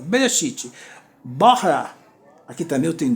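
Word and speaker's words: בראשית: Então, Berê, é aqui que fecha a sílaba. Shit, 2 sílabas. Bereshit.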